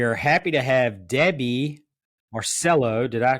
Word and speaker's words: Marcello: here and we are happy to have Debbie Marcelo did I pronounce that correctly you abound right yes nice